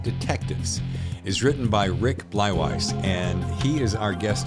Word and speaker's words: Bleiweiss: the whole show and screw that up it's bwise right that's exact exactly right thank God my